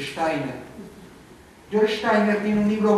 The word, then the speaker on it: Steiner: Steiner, se dice Steiner.